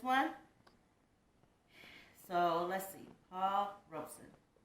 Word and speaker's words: Robeson: last is the paul robeson i believe that's how you say it i've heard people say robson i think it's robeson but i don't know these this tomato is